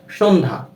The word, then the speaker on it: সন্ধ্যা: তো কোনো যুক্ত ব্যঞ্জনের সাথে যদি জফলা ব্যবহৃত হয় সেক্ষেত্রে সেই জফলাটির উচ্চারণ হয় না।